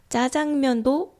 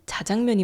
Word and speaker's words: 자장면: 그래서 이제는 자장면보다 짜장면이라고 말하는 사람들이 훨씬 많아졌습니다. 그래서 다들 짜장면이라고 부르니까 그래 그냥 짜장면도 오케이 해 주자 이렇게 됐어요. 그래서 짜장면도 맞는 말이 됐습니다. 근데 원래는 자장면이 맞는 말이었다는 거죠.